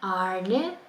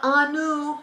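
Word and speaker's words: ആണ്: And arne is a long a and a retroflex and a clipped e. So it's not anu, it's arne.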